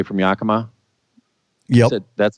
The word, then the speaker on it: Yakima: from Ellensburg or maybe I should say from Yakima yeah that's how you pronounced it yeah it is uh-huh so from Yakima to Leavenworth was under construction and I sat